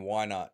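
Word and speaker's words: Wynaut: Why not? It's spelled Y at W Y N A U T, I think. And he goes, "Why not?" Sounds like he's saying, "Why not?"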